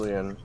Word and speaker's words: Julian: And, so, okay, Oh, and if you're wondering how it was pronounced, it is indeed pronounced Julian.